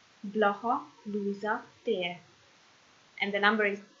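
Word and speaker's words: Blaha Lujza tér: Tér, again, means square, so I pronounce again. Blaha Luisa tér. Blaha Luisa tér.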